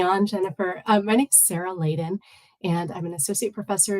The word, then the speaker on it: Layden: Layden, did I pronounce that correctly?